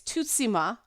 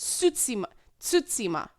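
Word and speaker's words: Tsushima: The T is not silent. So some people are saying it's Tutsima, which isn't, and some people are saying Susima, but it's actually in between. It's Tsutsima.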